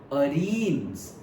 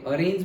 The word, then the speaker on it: arene: Okay, और से hello अरीन्स. Okay, अरेन्स भी बोलते हैं अरीन्स भी बोलते हैं, दोनों प्रोनाउंसिएशन होते हैं.